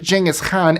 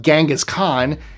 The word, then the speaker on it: Genghis Khan: The Mongols, under the command of Genghis Khan, and yes, I am pronouncing it that way, he was Mongolian, so he would not have called himself Genghis Khan.